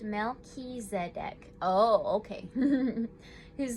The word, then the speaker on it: Melchizedek: uncovered don't give up melchizedek pronounced mel ki zedek oh okay whose name